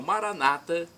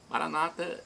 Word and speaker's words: Maranata: de Jesus eu clamo Maranata como dizemos nós católicos com a tônica na última sílaba o Maranata Maranata é tônica na penúltima sílaba é a pronúncia mais comum entre os nossos irmãos evangélicos ou protestantes nossos irmãos separados não